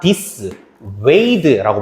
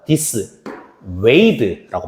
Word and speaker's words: dissuade: this 하고 나서 u, a, d, e인데 발음을 잘 들어보자. dissuade라고 발음합니다. dissuade라고 발음해요.